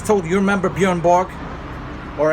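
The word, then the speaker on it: Björn Borg: it's told you remember Bjorn Borg or as my wife says she's Swedish so she knows Buuren Borya that's how you see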